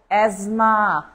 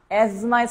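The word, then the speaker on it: asthma: আছে এটা খুবই গুরুত্বপূর্ণ এজমা এজমা স্পেলিং দেখেন এই যে সেই এজমা এই এজমার স্পেলিংটা কিন্তু খুবই গুরুত্বপূর্ণ এসটি এইচ এর উচ্চারণ নাই এজমা এজমা টিএইচ এর উচ্চারণ নাই আপনি জাস্ট মনে রাখবেন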